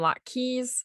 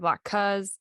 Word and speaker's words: latkes: pronounce things differently like she calls them lot-keys instead of lot-kuhs and it's sufen-yacht instead of soften-yacht or whatever so obviously there's different